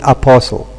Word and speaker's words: apostle: When we derive the adjective out of this word, out of this noun here, we tend to, if you like, to insert the t which is omitted in our pronunciation in apostle.